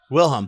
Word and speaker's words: Wilhelm: Wilhelm.